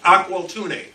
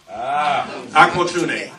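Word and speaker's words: Aqualtune: name may be a little bit difficult to pronounce but it's aqua tuney aqua tuning uh a princess of the kambundu people uh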